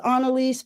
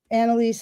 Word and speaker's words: Anelise: Um, well, my mom says Anaise, but people just say Anelise, Anaise, you know, as the as the spirit moves them, and that's totally fine with me.